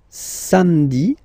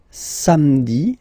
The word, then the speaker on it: samedi: Then, samedi, samedi, don't insist on the hein? Samedi, samedi, all right.